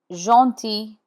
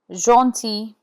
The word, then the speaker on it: gentil: Gentil means kind. Here the G is in front of E and the final L is not sounded. Gentil, gentil. Aubergine, aubergine is eggplant and G here is in front of I.